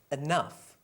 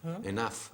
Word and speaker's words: enough: And then we have other words like enough. È vero? Enough, abbastanza. C'è sempre GH. Enough.